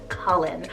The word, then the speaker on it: Cullen: here i have the name cullen cell c-u-l-l-e-n colin i am so in love with this name